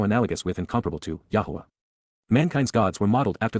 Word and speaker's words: Yahowah: achievements, even miraculous fulfillments, Yahowah, Yahowah, the proper pronunciation of the name of Eloah, God as directed in his Torah.